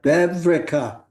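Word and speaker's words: וועווריקע: Vevrika.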